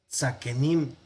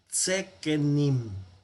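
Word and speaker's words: זקנים: Bueno, tenemos tzaken, tzakenim, no, sino tsekenim, ¿verdad?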